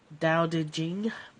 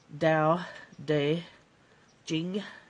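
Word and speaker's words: Tao Te Ching: don't stick around Long Dow Jing the t's sound like D's da de Jing and the CH sounds like a kind of a a CH and a j combined so um so yeah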